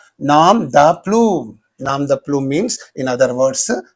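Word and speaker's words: nom de plume: Nam the plume. Nam the plume.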